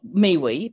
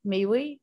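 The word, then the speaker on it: miwi: we have what we call a mewi it's pronounced what me we but it's spelled m-i-w-i me we or one elder calls it muy but that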